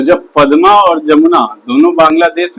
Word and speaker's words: जमुना: नाम हो जाता है जमुना। कंफ्यूज नहीं होइएगा, ये इंडिया वाला यमुना नहीं है, ये जमुना है, जे से जमुना। इंडिया में जो है वो यमुना है, य से यमुना, ये जे से जमुना।